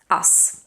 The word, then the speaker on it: us: is one of the is actually the only grammatical word that ends in a voiceless s because the rest things like has is does and so on they end in a voiced Z so when you have us it has to stay voiceless us with us and